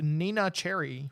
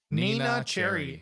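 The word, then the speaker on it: Neneh Cherry: developed uh inspired by the Swedish pop artist Nina Cherry was she cute I do not know her Nina Cherry NE n e h you like how synchronized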